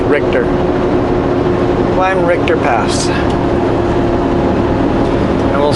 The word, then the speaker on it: Richter: I think I pronounced it Richer last time, but I think it's really pronounced Richter.